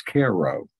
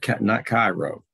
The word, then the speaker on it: Cairo: heard the word pronounced, for the people of Illinois, it's Cairo, not Cairo. If you go around that area and say, well, Cairo, they're going to tilt their head and say, you're not from around here, are you? But they pronounce it Care. It's a K-E-H sound, Cairo, Illinois.